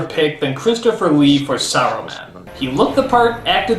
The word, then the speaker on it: Saruman: It's pronounced Saruman! The S isn't silent!